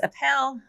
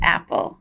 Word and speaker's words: APPEL: annoying but a lot of people think it's a pill that it really we pronounce it Apple which makes it fun because there's an apple